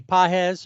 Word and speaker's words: Pages: Uh I'm going to go with Pothead himself, Andy Pahes or Pages. Andy Pages if you don't know how to uh uh properly pronounce Pahes.